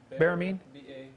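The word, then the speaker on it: baramin: deals with berman ology or honey you know spell that BA we get this on tape here ba RA mi n Behrman bear mean VAR a mi n is Hebrew word for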